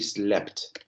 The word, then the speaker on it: slept: Pero la pronunciación de ahí es she slept. ¿Ok? Que es S-L-E-P-T. ¿Ok? Como está escrito en el chat.